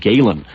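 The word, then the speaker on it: Gehlen: the Cold War played by a man named Gailen his personal aim was Reinhard his last name is spelled at geh le n now Reinhard Galen was Hitler's most important intelligence officer during World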